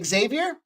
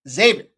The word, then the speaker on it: Xavier: you hear anybody say Xavier stop following them the x is a z like exhibit x to the z z Xavier that's how they pronounce